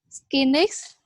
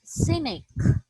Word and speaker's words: cynic: All right, and this one, Yes, it pronounced as cynic. cynics, One more time. cynic.